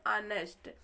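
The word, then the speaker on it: honest: गया है यहां पे जो एच होता है वह साइलेंट होता है ओ से इसका पढ़ना स्टार्ट होता है ठीक है तो यहां प एच को उच्चारण में नहीं लेंगे ओ से पढ़ना शुरू करेंगे तो इसको हम पढ़ते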